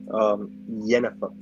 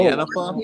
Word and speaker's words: Yennefer: if it's a girl, Yennefer. Yennefer. Yennefer. Yeah, I can't pronounce it. Jennifer. It's like Jennifer, but with a Y. Yennefer. No, Yennefer?